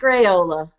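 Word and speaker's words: Raiola: my man can you just right did I pronounce his name right who cares it right yes Dominic rayola now speaking of discipline and consistency and Roger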